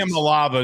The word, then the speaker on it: Iamaleava: Iamaleava is how he wants it pronounced.